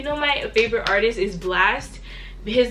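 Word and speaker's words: Blxst: If you know my favorite artist is Blast, his name is spelled B-L-X-S-T.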